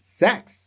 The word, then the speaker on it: sex: mention that you know the number six in Latin is pronounced sex Stephen is fiery and